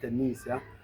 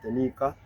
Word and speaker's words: Tanika: for Tanika Wolf, because I used to pronounce her name as Tanisha because I miscued on looking at the spelling of her name. I thought I saw Tenecia, but it's Teneca. So her name is Tanika Wolf. The pronunciation is Tanika.